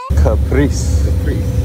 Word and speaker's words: Caprice: How you pronounce the name again? Caprice.